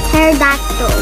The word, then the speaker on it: pterodactyl: uh a mastodon and a pterodactyl why do they put a piece oh a silent p ICS let's go so